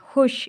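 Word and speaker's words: خوش: आगे है बच्चों हे वाव शीन, लेकिन इसको पढ़ते हैं हुश, इसको वाव बीच में नहीं पढ़ते।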